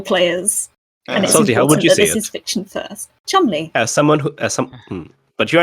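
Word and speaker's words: Cholmondeley: fiction first role players this is fiction first Chumley someone who some but you're aren't English you're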